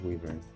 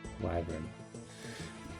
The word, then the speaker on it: Wyvern: Wyvern. Wyvern. Okay, not Wyvern. Wyvern.